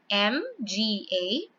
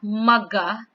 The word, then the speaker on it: mga: M-G-A. It's pronounced as mga. Not maga, but mga.